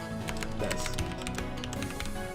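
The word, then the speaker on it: です: Let's do Kimi wa Yasashi desu. And the su is silent.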